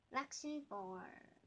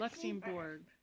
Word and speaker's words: Luxembourg: The end of it rhymes with morgue. Oh. Give me a hint on the first letter. L. The next two letters. U. Luxembourg.